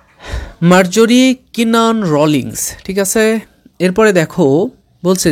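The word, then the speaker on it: Marjorie Kinnan Rawlings: ইন মেনিফিল্লি ঠিক আছে এটা অনেকেই তোমরা উচ্চারণ করতে পারছো না মার্জাররি কিনান রোলিংস ঠিক আছে এরপরে দেখো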